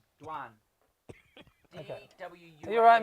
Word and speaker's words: Dwan: Their name Duan. Is it Dwayne and you're saying it wrong? Is it Dwayne? Duan. That's D-W-A-N. Duan.